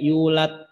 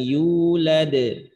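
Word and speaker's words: يولد: Maka jangan tidak dipantulkan, misalkan saja bacanya yulat gitu. Lam yalid wa lam yulat gitu ya. Maka ini kesalahan dalam bacaan. Maka cara bacanya tetap sifatnya harus ngikut. Lam yalid wa lam yulad. Yulad.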